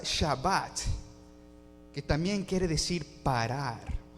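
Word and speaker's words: שבת: Y la palabra reposo, the word for rest, se pronuncia Shabbat, que también quiere decir parar o cesar.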